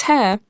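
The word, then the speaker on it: Haigha: His name is Hare. He pronounced it so as to rhyme with mare.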